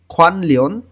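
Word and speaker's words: 관련: শিখবো ইলসাং দৈনন্দিন জীবন খনলিন নিউন বাচ্চিমের পরে যখন রিউল আসে তখন ন টাও ল এর মতন উচ্চারণ হয় খনলিন অর্থ সম্পর্কিত ধংজাক অর্থ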